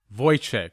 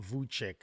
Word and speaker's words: Vujcic: that right my men well not exactly but nobody gets it right the proper pronunciation is voice yes but most people just call me vuck and i'm just cool with that because it's kind of the canadian way